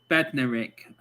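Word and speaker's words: Bednarek: for shay adams and jan bedna bednarick that's how you say his name that'll tell you some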